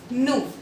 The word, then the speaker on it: nous: Now, the rule number 13 says that if O and U will come together, the sounding of OU becomes U. OU will become U.